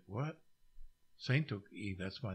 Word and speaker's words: Tsatoke: in Cairo saintoki so when they said what Saint took e that's my name and so I guess they